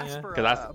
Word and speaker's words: Espera: Espera, but people say it 1,000 different ways.